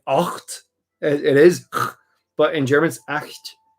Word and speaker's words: acht: But you hear it in German. It's acht. Note on pronunciation. I know I'm not a native German speaker, but a note on pronunciation. A lot of people have a tendency when they're speaking German to acht, because they're like acht. But that's not how the German CH is.